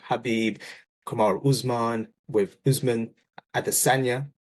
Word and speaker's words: Khabib: pronounce potential names properly such as kabib often being mispronounced instead of khabib Kamar Usman with Usman